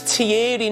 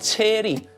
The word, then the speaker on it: Thierry: His name's Tierry, not Terry.